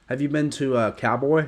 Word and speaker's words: Kauboi: Have you been to Cowboy? It's spelled like Kauboi.